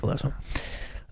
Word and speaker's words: Alesso: Alesso? Yeah. Alesso.